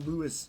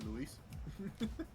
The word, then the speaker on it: Luis: We'll just call him Lewis here tonight. It's actually Luis.